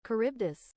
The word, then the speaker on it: Charybdis: Google, can you help me pronounce this? Charybdis.